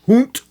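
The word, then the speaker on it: Hundt: Sometimes Hunt is spelled the German way. Hoot. H U N D T. Put that end there to get the hoot.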